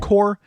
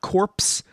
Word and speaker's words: Corps: video, Marvel Collector Core, which is pronounced core, not corpse, by the way.